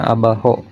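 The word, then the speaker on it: abajo: Abaho atau abayo ini ya untuk huruf J itu dibaca H. Oh, berarti ini dibacanya abaho artinya bawah di atau ke bawah.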